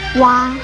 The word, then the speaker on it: 娲: 蛙这个字的国语注音是蛙，一声蛙，乌啊哇一声哇。